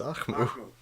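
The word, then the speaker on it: Ahkmou: It's Akmu.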